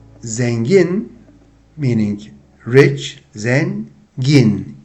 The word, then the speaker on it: zengin: And of course the adjective is, if we want to spell it, it goes Z-E-N-G-I-N, and you will see it on the screen. Zengin. So this is thin vowel, in, E.